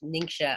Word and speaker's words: Ningxia: China called the ninja Ningxia I actually mix mispronounce it most of time I say ninja but it's actually ningxia this ningxia province where